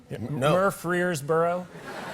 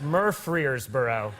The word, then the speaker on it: Murfreesboro: early 20s, I was doing a show in Murfreesboro, Tennessee. Murfreesboro. I'm pronouncing it correctly. -Okay, okay. -I'm not mispronouncing it. -You're not -- no. -That's how it's pronounced. -That's a place. -Murfreesboro.